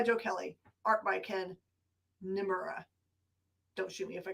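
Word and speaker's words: Niimura: This is called Immortal Sergeant, and it is written by Joe Kelly, art by Ken Nimura. Don't shoot me if I got that name wrong. It's two eyes. N-I-I. Nimura.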